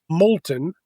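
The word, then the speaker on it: Moulton: Uh but all of those I am big Molton. M O U L T O N. Rhymes with the molten lava.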